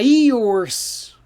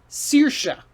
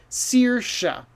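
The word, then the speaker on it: Saoirse: of vowels a-i-o-r-s-e okay if you trust your eyes you try to read it say yours does it rhyme with horse no no no it's another irish name remember ask the person how to say it and so that's searsha it's a cool name seersha but all of these letters come down to just two sounds searsha and one other amazing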